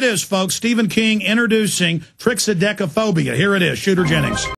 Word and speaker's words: Triskaidekaphobia: How do you pronounce it? Triskaidekaphobia. Triskaidekaphobia, or Fear of 13.